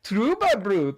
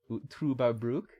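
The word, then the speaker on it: Trüberbrook: that you gave me trouba is up next uh it's pronounced with an uber as in ubermensch trueba brook uh it is by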